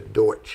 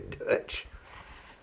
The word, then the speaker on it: Deutsch: The Deutsch is actually how it's supposed to be pronounced. It's not really Dutch.